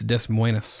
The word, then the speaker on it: Des Moines: the details than I am now did I pronounce them Wainwright Des Moines that's the real question it's it's Des Moines uh yes - mm-hmm so the Des Moines